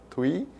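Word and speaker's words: Thủy: Say in Vietnamese we pronounce the th as tha, right? Like you call a girl Thuy, tha, Thuy, but in English you don't pronounce a th sound like that.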